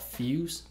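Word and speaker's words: Fyuse: But lately I just discovered an app called Fuse. It's spelled F-Y-U-S-E.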